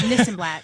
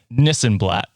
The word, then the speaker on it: Nissenblatt: take your call, but you need to pronounce my name correctly first. It's Nissenblatt. It sounds exactly as it's spelled. So before we have you on the show, Nissenblatt.